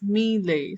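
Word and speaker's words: mêlée: रहा है, कॉमा सा, ये लेटर जो है ये ई की तरह नहीं बल्कि ये ए की साउंड प्रोनाउंस करता है। जैसे प्रेसी जो है वर्ड, उसके अंदर भी यही लेटर यूज हुआ होता है। प्रेसी भी फ्रेंच वर्ड है और इस लेटर को आप ए की तरह प्रोनाउंस करते हैं। So this word is pronounced as मीले।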